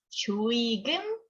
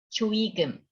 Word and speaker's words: 조의금: 발음은 조의금, 조의금. 둘 다 괜찮아요. 조의금이 is more common because it's easier.